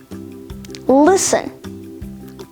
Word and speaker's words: listen: glisten gourmet hustle listen match moisten mortgage nestle often soften rapport rustle scratch thistle watch whistle witch and finally wrestle all of these words have the silent letter t in them and finally let's